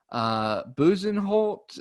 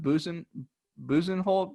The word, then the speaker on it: Bezuidenhout: Buzenholt, is that how you pronounce that? I think it's so. Not spelled the way it sounds. I think it's pronounced Buzenholt, but it's spelled like Buzedenhout.